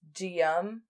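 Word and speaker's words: Guillaume: But anyway, so the statue was removed and they commissioned his brother, whose name looks really hard to pronounce, but it's just Gium.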